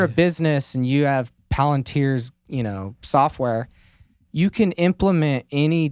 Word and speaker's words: Palantir: Palantir, is that how you say it?